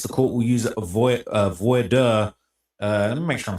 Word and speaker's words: voir dire: Pronounce voir dire. Yeah, like, bro, he's here on a visa. Like, okay, school systems just don't. Okay. Voir dire. That's how it's pronounced.